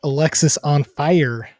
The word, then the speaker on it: Alexisonfire: for those out there it is pronounced Alexis on fire not Alex is on fire it's not Alex is